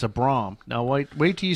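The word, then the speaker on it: Brougham: 98 and it's a Braum now wait wait till you see the interior now that's pronounced Broham yeah right oh oh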